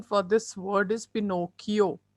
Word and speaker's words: Pinocchio: The pronunciation for this word is Pinocchio, right? It is Pinocchio.